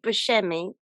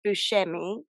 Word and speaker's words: Buscemi: So apparently, you really do pronounce it Steve Buscemi because his Sicilian relatives told him that's how you say it. But Oh, okay. Yeah. so his real name is Buscemi, or how they say it in Yeah.